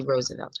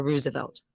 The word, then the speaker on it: Roosevelt: to win them president franklin d roosevelt or roosevelt as it's properly pronounced um we can say